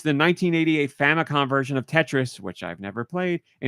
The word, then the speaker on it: Tetris: when they announced this they pronounced it Tetris actually oh my god I've been saying it wrong the whole time and yes if you